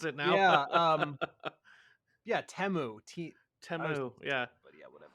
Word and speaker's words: Temu: 15 Temu ads, which that's apparently how you pronounce it now. Yeah. Yeah, Temu.